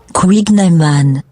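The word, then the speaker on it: kouign-amann: Now, pronunciation. Here we go. Yeah. Ready? Right. Where is she? Quignaman.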